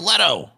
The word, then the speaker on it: Leto: It's pronounced Leto. Hey, Jared Leto.